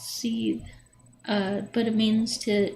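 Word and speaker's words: seiðr: seed or it's actually spelled s-e-i-d-r and it's pronounced c uh but it means to to boil um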